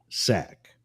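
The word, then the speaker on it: SAIC: in the Secret Service the special agent in charge s AIC is pronounced sack and it's been a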